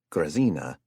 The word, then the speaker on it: Grazina: Pronouncing her name properly. Grazina is apparently too much effort for him, so he calls her Grizz.